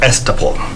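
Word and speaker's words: estoppel: promissory s all right this is pronounced as esteban so such cases gave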